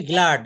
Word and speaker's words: glad: গ্ল্যাড না, উচ্চারণ হবে গ্লাড।